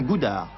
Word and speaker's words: Goudard: Ce n'est pas une erreur, prononcez bien Goudard.